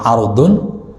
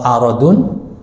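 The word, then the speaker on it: عرض: Luas surga itu, ya, kalau bacanya ardun itu luas. Kalau aradun ini barang dagangan, maka disebut urudut tijarah. Ya, yaitu barang dagangan. Tapi kalau ardun itu lebar.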